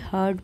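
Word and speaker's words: heard: When Raghu हर्ड about the काउ, यानी कि जब रघु ने हर्ड सुनी, अब यहाँ पर भी देखिए आर आपको साइलेंट दिख रहा है, इसे हर्ड प्रोनाउंस करें, हर्ड अबाउट द काउ यानी कि गाय के बारे में।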